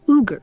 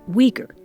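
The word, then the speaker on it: Uyghur: all here esma is ugar a Muslim minority that has been fighting for autonomy from China for years you may have heard it pronounced weager her parents left Northwestern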